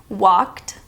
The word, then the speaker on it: walked: Walked with the T sound.